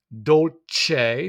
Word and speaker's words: dolce: But we have dolce. So we see that soft sound there of the C when it's followed by the E.